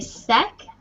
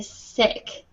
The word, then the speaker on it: sick: right because sometimes if you open your mouth um too much it sounds like at so um you want to be careful not to say sec but to say sick okay they're really close